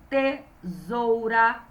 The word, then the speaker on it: tesoura: Uma dica, esse z não é com a letra Z, é com S fraco, ok? Igual da casa.